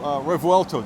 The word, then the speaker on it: Revuelto: Well, thank you very much for taking the time to show us the new Revuelto. Did I say that right? Yeah, it's really excellent. Okay. The pronunciation is excellent.